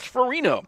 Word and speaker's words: Ferrigno: Appleby Colby Butterfield Drew farino it's spelled Ferrigno and Windham it would be Ferrigno but in uh Colchester it's ferino uh also starting uh